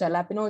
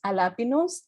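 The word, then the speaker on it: jalapeño: nothing is working and the pronunciation of jalapeno is not jalapeno it's jalapinos and when we are talking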